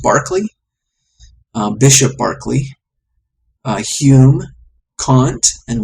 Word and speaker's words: Berkeley: And this has readings in Plato, Aristotle, Lucretius, Aquinas, Montaigne, Bacon, Descartes, Spinoza, Locke, Berkeley, I think I've heard it pronounced Barclay, Bishop Berkeley, Hume, Kant, and William James in philosophy.